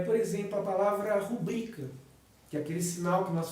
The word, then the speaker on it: rubrica: a nossa assinatura abreviada fala se rubrica mas muitas pessoas a pronunciam como rubrica como se ela fosse uma palavra proparoxítona quando ela não é da obstante Na minha